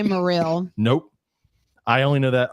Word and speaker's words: Morrill: stuff so I think I remember how to pronounce this thing I'm not gonna mess it up watch me go welcome Dr moral you nailed it no I got it the